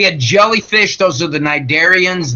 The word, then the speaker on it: cnidarians: jellyfish those are the cnidarians the up at the top to see is silent Hydra we had those